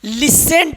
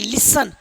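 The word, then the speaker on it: listen: टी देखिए यहां पर इसको लिसेंट पढ़ते थे हम लोग। लेकिन इसको पढ़ेंगे लिसन। क्या पढ़ेंगे? लिसन। क्या पढ़ेंगे? लिसन। क्या पढ़ेंगे? क्योंकि टी क्या है आपका? साइलेंट है।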